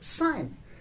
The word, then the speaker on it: sign: have word that everybody that is the word sign s i g n again here the word the letter g is silent and we have our sovereign in sovereign